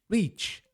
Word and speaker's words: reach: Ao invés de ser rich, significa rico, esse é o reich com i longo. Então diferencie bem. Rich, reach, rich, reach. Esse aqui é o reach com i longo.